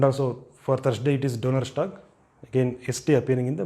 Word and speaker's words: Donnerstag: And also for Thursday it is Donnerstag, again ST appearing in the middle of a word.